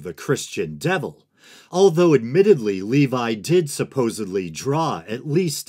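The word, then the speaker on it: Lévi: first Baphomet documentary that I believe I pronounce the name elefas Levy but upon further research it appears that Levi is the more proper pronunciation so that's what I'm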